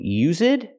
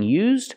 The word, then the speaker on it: used: by the waitress and I'm not sure if she's saying us it and mispronouncing used or if she's saying use it either way it's not correct we have to say this one is used pronunciation we have to say used this one is used by the waitress not us it used example the phrase